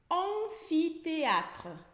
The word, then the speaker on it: amphithéâtre: Por exemplo, amphithéâtre. Amphithéâtre, que é anfiteatro, começa com a sílaba AM. E o A mais o M vai ter esse som de ON. ON.